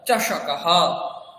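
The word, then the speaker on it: चषकः: চষকাহ, চষকাহ, চ মূর্ধন্য স ক, চষকাহ, চষকাহ, চষকাহ, গ্লাস, চষকাহ, গ্লাস, গ্লাস মানে তাহলে চষকাহ।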